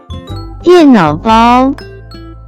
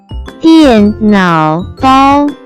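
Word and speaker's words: 电脑包: as 电脑包，电脑包，电脑包。 Let's break down it to understand it even more. It has three characters, with different pronunciation. First character is 电 pronounce with fourth tone, it stand for electric.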